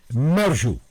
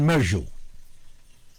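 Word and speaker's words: Mérieux: isang milyonaryo, si Alain Mershow. Medyo ang bigkas dito, pinag-ingatan natin. Gawa ng French ito eh. Alain Mershow. Ang spelling M-E-R-I-E-U-X. Alain Mershow.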